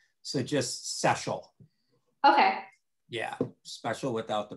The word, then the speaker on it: Szczesiul: I'm used to, I'm not at all particular to tell you the truth, but the way our family says it is phonetically like special without the P. So just Szczesiul.